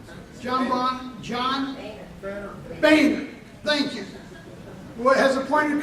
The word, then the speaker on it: Boehner: House Speaker John Bonnier, I always mispronounce his name. John Boehner, thank you, who has appointed Congressman Pittenger to